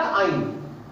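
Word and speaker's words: yne: তাহলে এখানে কেউ ল লিখে ফেলো না, এটা শুধু আইন, উচ্চারণটা আইন।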